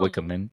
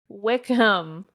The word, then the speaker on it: Wickham: Phil Wickman. Not Wikman. Wickcham. Wickham.